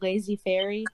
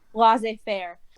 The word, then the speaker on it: laissez faire: known how to pronounce, is it lazy fairy? Laissez faire.